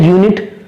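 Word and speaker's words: unit: लेकिन अगर मैं बात करूं एन यूनिट, तो ये एन नहीं आएगा, यहां पर आर्टिकल ए का हम यूज करेंगे, क्योंकि यूनिट का प्रोनाउंसिएशन ये से शुरू होता है।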